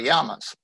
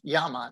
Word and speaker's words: llama: First, the llamas. I'm going to mention that I am pronouncing this as it is in Spanish. The double L is pronounced like a Y in English, so it's llama, not llama.